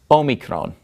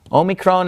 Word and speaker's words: omicron: the next letter is Omicron Omicron is identical to our English lowercase O and it makes an O sound Omicron now we're oh me Krong gets its name is